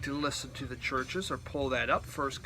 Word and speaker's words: Chvrches: They put a V in there, but still you pronounce it Chvrches.